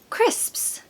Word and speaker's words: crisps: what can I say so the first syllable is a very popular male name here in the UK Chris Chris and then of course you've just got to master this sound crisp it has a